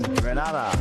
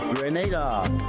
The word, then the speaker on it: Grenada: So today, like we Germans say, we are in Granada, but I heard in English it's called Grenada.